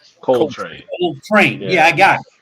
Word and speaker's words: Coltrane: Say his name again. It's Coltrane. I said Coltrane. That was the dude from Star Trek. So, yeah, Spanish gets in the way. I thought it was Roscoe Pico Train.